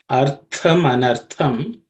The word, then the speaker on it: artham anartham: If you take the first line, artham anartham, the tha which appears twice in this compound word is a aspirated consonant. That means there has to be extra air or stress placed on the pronunciation of the letter. That is, this tha is the second letter in the tha varga or tha class of sounds in Sanskrit. So it's artha manartha. Okay, artham manartham.